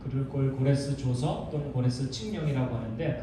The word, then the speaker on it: 고레스: 왕국을 세운 왕의 이름은 후레스 고레스입니다 사이러스 다양하게 발음하는데 고레스입니다 그리고 이제 모레스가 왕이 되자마자 명령을 내리거든요 그 글을 고레스 줘서 또는 고레스 칙령이라고